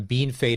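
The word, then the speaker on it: Bienfait: this province well and another one bean fade is another one that usually will screw some people up you can easily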